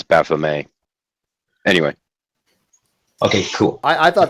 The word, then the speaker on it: Baphomet: As a quick matter of absolutely pointless correction, you don't actually pronounce the T as Baphomet.